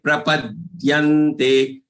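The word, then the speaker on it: प्रपद्यन्ते: Mamevaye, mamevaye, prapadyante. This prapadyante, prapadyante, prapadyante, prapadyante. And there is aghat on this long ye. So after having pronounced it for long, then get this aghat.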